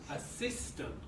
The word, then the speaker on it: assistant: Now the second word has 3 syllables. Where's the stress? Assistant.